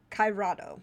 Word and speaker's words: Cairado: And one of the first one that I just finished, it's a relatively short book, called The Orb of Kairado, I think is how it's pronounced. It's Cairado.